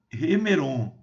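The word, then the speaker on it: ἡμερῶν: Escatu, ton, remeron. Ok? Escatu, ton, remeran. Lembrando que aqui o espírito é áspero, portanto, pronunciado como H de house, né? O house em inglês.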